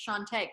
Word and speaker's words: Chante: So just to make sure I'm pronouncing your name correctly, it's Chante, correct? Yes, yes, it's French.